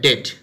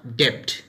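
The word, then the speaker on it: debt: ইন the same way এটা ডেট, নট ডেপ্ট, এটা silent থাকবে।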